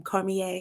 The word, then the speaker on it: Cormier: Cormier. Cormier, yeah, So I said, yeah, Cormier, yeah, whatever. Cormier. Daniel's dude. When It's people from New Orleans, you know what I'm right saying? with his Cormier, Creole name, I see it.